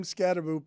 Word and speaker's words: Scatterbo: Scatterbo pronounces his name Scatterbo, even though he only spells it with one O, and I feel like it should be Scatterbo.